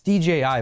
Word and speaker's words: DJI: a stupid little thing DG a DJI its DJI but it's just it's so weird to pronounce because of a stupid little thing they